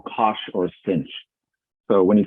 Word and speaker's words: cosh: So you get cosh, which is a hyperbolic cosine, or we pronounce it cosh. You kind of pronounce it how it looks pronounced.